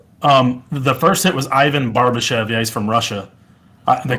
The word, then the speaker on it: Barbashev: Ivan Barbashek? Is that it? The first hit was Ivan Barbashev.